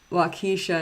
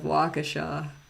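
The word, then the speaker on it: Waukesha: get too mad especially when they say uh wakisha instead of wakaa in Wisconsin but I mean when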